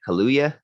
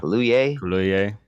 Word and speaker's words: Kaluuya: So, and then I think we go to OJ, which is I never know how to pronounce that dude's name. Kaluuya. Yeah. Kaluuya.